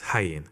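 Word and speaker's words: ayin: first the letter O this letter is pronounced as hyen in phenician it is of course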